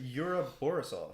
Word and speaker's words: Yura Borisov: Do you want me to tell you how to pronounce his name? Is it Yura Borisov?